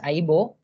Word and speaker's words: Aibo: It is pronounced as Aibo.